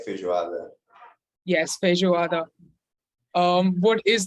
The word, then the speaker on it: feijoada: happy seeing this being represented rafael please do pronounce this for all of us yes i really like feijoada yes feijoada um what is that oh all